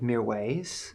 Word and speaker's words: Mirwais: This next artist is an Afghani-born Parisian DJ by the name of MIRWAIS. It's taken me a long time to learn how to pronounce that.